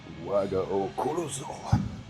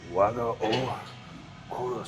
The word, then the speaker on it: Waga o Korosu: So the Japanese say it, Waga o Korosu. Waga o Korosu. So you gotta say it like the Japanese.